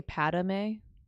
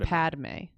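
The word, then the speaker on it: Padmé: what you add a like you say padame so just Padme oh I see how it's pronounced so this conversation began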